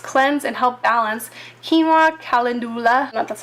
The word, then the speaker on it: calendula: Quinoa, calendula, that's how you say it, and aloe.